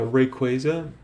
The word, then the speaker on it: Rayquaza: Uh Rayquaza, I I always have said it like this. It's Ray Quaza. It's pretty simple, guys.